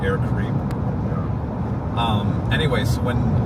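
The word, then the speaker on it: Air Caraïbes: It's actually air Caribbean is how they say it in Well, he was saying you say Karib Karib Air Karib.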